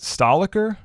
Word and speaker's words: Stahlecker: of your last name is it is it Stahl occur yeah that's a yeah okay and Celia